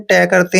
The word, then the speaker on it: talk: पे इसको पढ़ते हैं, इसको आपने टालक नहीं पढ़ना है। टी का उच्चारण टे करते हैं, ए को आ की मात्रा पढ़ते हैं। के से पहले जब भी एल आता है वहां पे एल साइलेंट होता है, और के का उच्चारण हमने कै करना है, टॉक, ऐसे टॉक पढ़ना है।